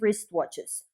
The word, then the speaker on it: wristwatches: swiss race watches here the key is that the letter w is not pronounced in wristwatch and wristwatches or in swiss but